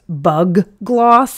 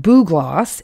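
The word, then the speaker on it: bugloss: be tempted to pronounce bug gloss it's b-u-g-l-o-s-s oh so you might want to say bug and you might see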